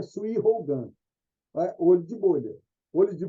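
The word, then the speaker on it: 水泡眼: Em japonês a gente pronuncia Sui Hougan, olho de bolha.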